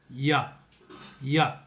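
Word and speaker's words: ي: உங்கள் நாக்கை உங்கள் கீழ்தாடையோடு சேர்த்து வைத்தது போல், அது மேலே வராதது போல் வைத்து சொல்ல வேண்டும். யா, யா.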